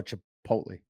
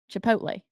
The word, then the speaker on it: Chipotle: c h i p o t l oh Chipotle Chipotle okay so back to your sausage because I'm